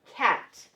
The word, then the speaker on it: cat: In our first column, we're going to write the word cat. Cat. The cat is purring. Cat. Okay, so it's one syllable.